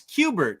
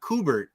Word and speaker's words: Kubert: while we're talking pronunciation it's Qbert not kubert according to the sons uh Hubert yeah